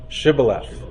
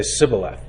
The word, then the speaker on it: Shibboleth: they knew they weren't Israelites because they couldn't pronounce that name Shibboleth and they would say Sibylline and they knew they weren't so similar with